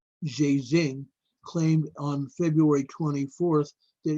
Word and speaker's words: Zhejiang: A province east of the epicenter of the city of Wuhan, I think it's pronounced Zhejiang, Zhejiang, Zhejiang, claimed on February 24th that it had restored 98.6% of its pre-coronavirus work capacity.